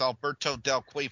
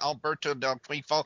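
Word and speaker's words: Alberto Del Rio: only having and Andy say his name right it's Alberto del qua I'll say it again Alberto del quo I'll say it one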